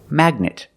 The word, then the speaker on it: magnet: GN in the middle you pronounce the G mag knit magnet this is a magnet